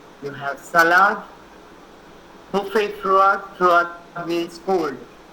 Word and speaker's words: froid: Buffet froid, froid means cold. It's pronounced as froid.